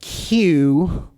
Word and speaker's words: queue: to pronounce the word q however ishan it's pronounced Q however Americans almost never ever use that word we don't cue up in America we line up we don't get in a